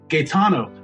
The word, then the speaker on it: Gaetano: and today our guest is Laura Gano am I pronouncing that right Laura yeah you're pronouncing it